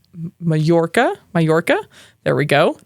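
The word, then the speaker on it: Mallorca: this island wrong it's mayorca mayorca there we go not Majorca I was making to pronounce it with a J like it's spelled not like a Double L that I wasn't ready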